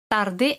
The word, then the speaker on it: tard: Tarde es tard. D al final tampoco se pronuncia.